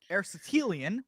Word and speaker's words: Aristotelian: Aristotelian.